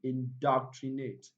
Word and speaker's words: indoctrinate: Okay, so let's count three syllables backward without wasting time. One, two, and three. Indoctrinate, indoctrinate.